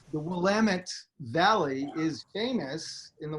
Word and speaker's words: Willamette: Here's a good thing. Willamette, damn it. It's a, you can't go wrong. It's a Willamette, damn it, and then you'll get it right. The Willamette Valley is famous in the wine world.